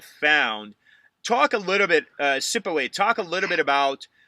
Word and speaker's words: Siphiwe: Siphiwe. The H is silent. Siphiwe.